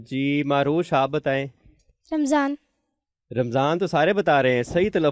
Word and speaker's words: رمضان: ہے یا رمضان ہے۔ جی رمضان ہے، میم کے اوپر زبر ہے، جزم نہیں ہے، اس لیے اب آئندہ سے آپ نے اس کو رمضان بولنا ہے۔ تو جی بچوں اب